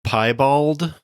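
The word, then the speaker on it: piebald: I think the the term is pie bald.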